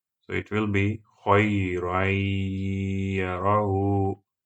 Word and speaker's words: خَيْرًا يَرَهُ: Now apply rule of idgham and the first type of idgham. So it will be خَيْرًا يَرَهُ خَيْرًا يَرَهُ خَيْرًا يَرَهُ.